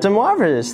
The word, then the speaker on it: de Moivre: named after a french mathematician anyone remember the de moivre's theorem right very good and you pronounced it right i'm so pleased though some